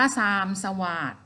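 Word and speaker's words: ทรามสวาท: ได้ บอก คำ อ่าน อ่าน ว่า ทราม สวาท นะ คะ ดอย เด็ก เป็น ตัว สะกด เด็ก สระอิ นี่ ล่ะ ค่ะ เป็น ตัว สะกด ใน มาตรา แม่ กด อ่าน ว่า ทราม สว่าง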